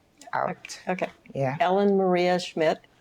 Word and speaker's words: Schmidt: what is your full name and could you spell it out okay yeah Ellen Maria Schmidt e l l n Maria m a r